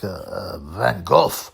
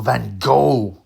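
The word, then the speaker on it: Van Gogh: diddy photos look like Van Go or Van Go as Americans say anyway I was thinking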